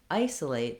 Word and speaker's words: isolate: It's just that in isolation, the main stress is on the A. In isolate, the main stress is on the I.